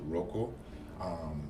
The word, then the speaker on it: Rokeaux: It's Rokeaux. Don't be alarmed. It's still pronounced Rokeaux.